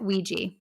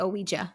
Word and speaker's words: Ouija: Okay, so my number 4 is, I'm going to pronounce this the correct way, even though every urge in me wants not to, but Ouija. I want to say Ouija so badly, so badly, but I